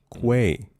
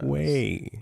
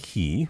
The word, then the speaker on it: quay: Quay. Yes. Yes. Quay. Not key. I don't know who says key.